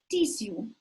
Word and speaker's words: tissue: Tissue, or you may also hear tissue. Both pronunciations are correct.